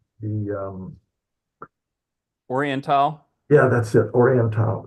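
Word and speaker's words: Orientale: yeah, that's it, Oriental. There's someone on news kept calling it Orientali, but I guess they don't know how to pronounce Latin.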